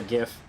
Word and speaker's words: GIF: cool i actually hesitated i wasn't sure if i was gonna pronounce it jiff or gif live i normally go with gif because it's graphical interface i don't know i